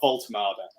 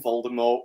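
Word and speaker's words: Woltemade: in an article about Voltada. That's the pronunciation. We're not calling him Voldemort. We're not calling him Vault Maid or whatever the hell else anyone's calling is the one.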